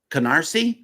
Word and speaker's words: Canarsie: Canarsie, yeah. Canarsie? I said it right. Yes, you said it right.